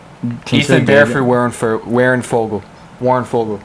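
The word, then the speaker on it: Warren Foegele: Warren Fogle.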